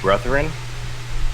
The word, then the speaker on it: Brethren: You've met another group, another faction, the Bandits of Brethren. That's spelled with a U, a TH, and an ERIN. So like Brethren.